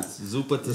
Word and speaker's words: Zuppa Toscana: Toscano? Toscana? Toscana. Zuppa Toscana.